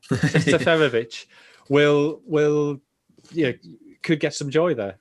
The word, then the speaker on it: Seferovic: Seferovic. It seems one extra syllable in there. Seferovic could get some joy there.